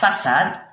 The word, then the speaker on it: façade: la façade. إذا la façade. حنا هذا السي مع الأ، السي مع الأ ينقرا ك. كي نديرو هادي لا سيدي تولي سا، هادي على شكل 5 باش الكا يرجع ينطق سا.